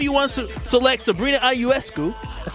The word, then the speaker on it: Ionescu: Whether you want to select Sabrina Ionescu, that's how you say it, right?